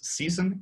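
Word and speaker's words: SESN: current steerable networks as season s-e-s-n but we pronounce it as season just to just to make it fancy um so okay we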